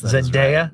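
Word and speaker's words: Zendaya: poll and the number one uh celebrity was Zenaia. Really? Did Did I pronounce that correctly? Yes. Zenaia.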